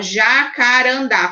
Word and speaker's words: jacarandá: tchau entenderam gente ó jacarandá é o dar né da então você primeiro circula